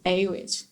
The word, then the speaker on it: Awich: and then and then just took aw i see h and just pronounce it a witch and i told that